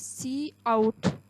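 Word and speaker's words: cout: द सी आउट is pronounced as सी आउट।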